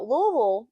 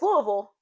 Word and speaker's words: Louisville: You know, Louisville is home too. Now, that's another thing. How do you pronounce? It's Louisville, not Louisville. We say Louisville.